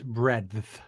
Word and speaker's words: breadth: Yeah, but the D is hard. It's breadth.